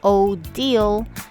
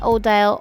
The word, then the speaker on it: Odile: It is a French name. It's pronounced Odile, not Odile, Odile, Odile, Odile, Odile.